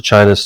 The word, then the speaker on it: Qin: next one is the chin dynasty it's pronounced chin and that's where we get the word china from so the qin dynasty